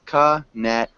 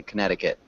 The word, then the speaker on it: Connecticut: wrong look up here contic Connecticut Conneticut exactly Connecticut Connecticut uhuh it's a tricky one it doesn't look like how it's spelled um Merchant Merchant um